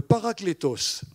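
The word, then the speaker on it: παράκλητος: En réalité, c'est un mot qui se prononce en grec, le paraklétos.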